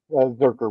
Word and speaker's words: Zurcher: but it's pronounced Zurcher with the hard K.